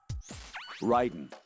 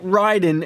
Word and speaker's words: Raiden: oh Ryden the enemy Sentry is regaining Consciousness because literally never call s him Ryden once did we go over this yesterday why is it Ryden and not Raiden those goddamn glasses or